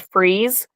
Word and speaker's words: Fries: Like a prime example, there's a town called Freeze, but it's spelled fries like you eat, but it's pronounced freeze.